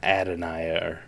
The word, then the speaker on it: Adonai: Yeah, they they call him Adonia or Adane. There you go. Adane. There it is.